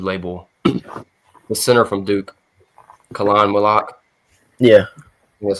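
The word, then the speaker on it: Khaman Maluach: Like so I guess number five you would label the center from Duke Khan Milak.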